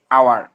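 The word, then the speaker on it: hour: এক ঘন্টা ঠিক আছে এখানে এইচ এর উচ্চারণটা সাইলেন্ট থাকার কারণে ও যেহেতু ভাওয়েল সেই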